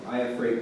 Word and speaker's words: Iafrate: And there's a phrase in that film that sounds kind of like my last name. Iafrate, no ghost. Iafrate is my last name.